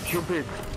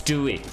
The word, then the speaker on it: Stewie: St okay you're Stewie you're not pronouncing it correctly it's Stewie yeah stupid okay hey